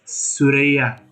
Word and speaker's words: スレイヤー: at slayer's review or if you pronounce it in the japanese lingo it's surya so he's in server 38